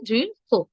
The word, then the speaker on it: দৃঢ়: যেমন দৃঢ় উচ্চারণটা কিভাবে হবে? দৃঢ় হো। একটু হো টান দিয়ে আমি লিখে দিচ্ছি এটির উচ্চারণ। দৃঢ় হো, হ নয়, হ্যাঁ, দৃঢ় হো।